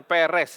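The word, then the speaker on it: Peres: di sini adalah ufarsin ini PRS jadi bacanya Perez ya ya ini di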